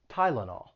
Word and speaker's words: Tylenol: are not too similar that y is pronounced with the long i sound tai and then the second syllable has the schwa tai la nal tylenol and then there's benadryl